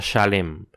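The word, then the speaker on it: שָׁלֵם: sí puedo oír eso en hebreo Salem se pronuncia shalem Qué significa totalidad o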